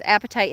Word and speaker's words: apatite: And it's, of course, the easiest one to remember because it sounds like your appetite, right? It's spelled differently, but it sounds like that.